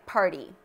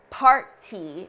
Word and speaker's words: party: party for example okay party that's the way we pronounce it in american english but if we were to say party part t pronouncing the t which we don't do in american english but just for the